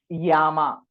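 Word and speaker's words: llama: Yama. Double L A M A. Yama, because double L is what? Y. A is A. M A A. So Yama.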